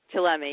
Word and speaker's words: Chillemi: Chillemi, yes.